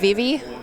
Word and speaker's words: Vivi: I really like Vivi.